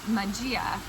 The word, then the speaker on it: magia: spelling or no I I prefer the Italian pronunciation which is Majia.